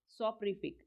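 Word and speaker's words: soporific: सोपरिफिक, सोपरिफिक, इसकी प्रोनाउंसिएशन क्या होगी? सोपरिफिक।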